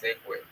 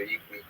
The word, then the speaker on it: Ekwe: It's Ekwe, but they've gotten out to Igwe.